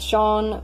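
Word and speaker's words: Sian: probably be read as Qian so now it's Shawn with Shawn s IA n which people who don't know how Shawn is pronounced with pronounce it's Dan so perfect these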